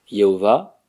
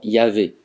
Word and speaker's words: Yahvé: Jéhovah, c'est la prononciation antisyllabique de la vraie prononciation Yahvé.